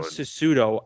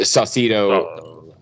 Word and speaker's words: Saucedo: And then Sassuto, is that how you say his name? Yeah, Saucedo, I'm pretty sure.